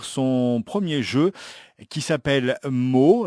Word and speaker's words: Mauw: premier jeu qui s'appelle mots alors ça s'écrit m a u w mais vous pouvez aussi le prononcé à la manière des chats c'est à dire marc bonjour vincent alors on